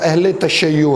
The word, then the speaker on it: اہل تشیع: تو وہ اہل تشیع، کچھ لوگ اس لفظ کو شیعہ جو ہے وہ بھی پڑھ لیتے ہیں، لیکن درست جو تلفظ ہے وہ اہل تشیع ہے۔ تو اہل تشیع جو